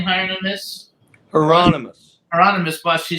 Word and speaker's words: Hieronymus: who says the the bus how do you pronounce the guy's name higher than this Hieronymus Hieronymus Bush he says she's very well known in